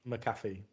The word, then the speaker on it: McAfee: I watched that interview today with that Pat McAfee. Is that how you say it? Yeah, and Pat McAfee.